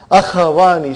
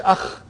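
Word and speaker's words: أخوان: Akhawani. See, we cannot say akh. It has to be akhawani. There is a fatah.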